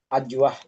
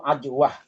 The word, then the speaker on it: ajwah: Ada istilah yang diucapkan oleh masyarakat kita yang kurang tepat, Ada yang menyebut ajwa, ada yang menyebut ajwa, pakai K, pakai K, ajwa. Padahal kalau kita lihat bahasa Arabnya itu ajwah, pakai ain.